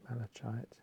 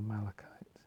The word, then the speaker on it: malachite: These work very quickly on the heart chakras, releasing emotions, called malachite, sometimes pronounced malachite or malachite.